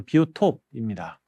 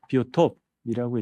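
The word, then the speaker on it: Biotop: 자, 이 비오톱은 독일에서 만들어진 개념이어서 약간 발음이 좀 틀려요. 영어식으로 읽다 보면 바이오죠. 바이오라고 읽을 거고요. 톱은 토폴로지, 토포스, 이제 공간, 위상학을 얘기를 하고요. 생물학적 공간을 나타내는 개념이 바로 비오톱입니다.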